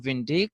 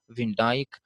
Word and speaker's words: Van Dijk: by VIN Dyke fine some people call him VIN dick or when they call other people call him VIN Dyke both the pronunciations are correct he is one of